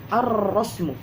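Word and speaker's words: الرسم: Adapun asy-syamsiyah ketika dibaca seperti rasmun, misalnya kita masukkan alif lam sehingga menjadi ar-rasmu. Di sini terdapat tasydid. Jelas. Dan alif lam yang di sini seakan-akan hilang. Alif lam di sini seakan hilang, tidak nampak dia diucapkan alif lam tersebut sebagaimana alif lam al-qamariyah tadi ketika mengucapkan al-kharitah. Maka inilah perbedaan antara alif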